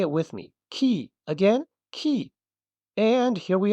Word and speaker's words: き: Key.